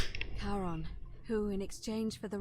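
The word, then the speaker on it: Charon: It's just as you described it, only your pronunciation is a little off. The name you heard wasn't Karen. It was C H A R O N. All right. As in Karon, the fairyman of the dead.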